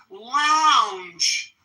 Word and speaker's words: lounge: This first one has that vowel sound ends with a final J voiced J. Lounge.